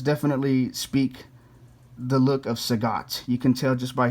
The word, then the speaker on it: Sagat: to know anne that some people have trouble pronouncing his name it's like they call him sagitt some call him sagat some call him say god it's like his name is nothing his name